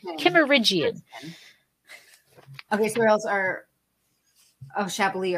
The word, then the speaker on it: Kimmeridgian: In the Kimmeridgian. Kimmeridgian.